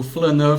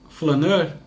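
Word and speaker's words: flâneur: que eu acho que possibilitou essa retomada do flaneur fotográfico, porque o flaneur é um personagem que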